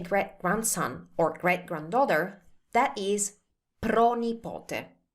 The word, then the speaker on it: pronipote: If you want to say great-grandson or great-granddaughter, that is pronipote. Pronipote. Notice how it's pro plus nipote.